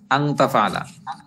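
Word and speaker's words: أن تفعل: পরে তা আছে তাফালা এখানে কিন্তু আনের উচ্চারণ স্পষ্ট হবে আনতাফালা তরিদু আনতাফালা সে করতে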